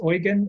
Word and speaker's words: Eugen: his first name is Eugen. It's like Eugene without an E.